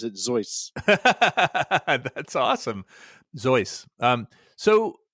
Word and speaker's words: Seuss: uh it's a zo zoy but spelled with a spelled with an S at the beginning uh yeah I think the actual German pronunciation is zoy zo and actually uh